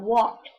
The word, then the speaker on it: walk: How about walked? Remember, walk has a silent L there. Walked.